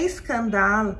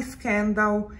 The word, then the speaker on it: Scandal: outro vídeo é que na campanha publicitária a pronúncia usada pela Jean Paul gaultier é escândalo mas a imensa maioria fala Scandal eu mesma me habituei a falar Scan dão isso ocorre porque a palavra é escândalo tem a mesma grafia no francês e no inglês no entanto a pronunciar é diferente em cada idioma escândalo em francês Scandal em inglês um escândalo ou declara